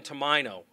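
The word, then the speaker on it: Tomaino: Our involved officers are Officer Jonathan Tomino. I'll spell that.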